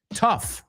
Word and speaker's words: tough: Tough. Otra palabra que es difícil de pronunciar. Tough. Rough. Laugh. Todas esas palabras acaban con GH, pero suena como una F.